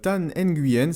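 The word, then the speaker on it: Thanh Nguyen: La chaîne suivante est assez particulière, elle s'appelle Tan Nguyen, c'est sûrement le nom de la personne. Donc ça s'écrit T-H-A-N-H, plus loin N-G-U-Y-E-N.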